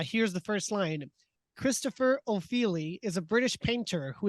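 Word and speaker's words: Ofili: you're not wrong because opheli sounds Italian as opposed to British but uh because it's spelled o f i l i that's right anyways I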